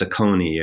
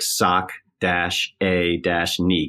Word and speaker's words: Saucony: lot of people don't people think it's saucony ER and so we said so just so you know and we phonetically spelled it sock - a - nee KN e e so if you get